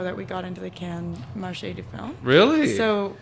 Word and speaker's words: Cannes: so we were like, is it called Canes? Canes? Cannes. Cannes, sorry. I think Cannes is like the proper pronunciation, and I think Cannes is like the Calgarian pronunciation.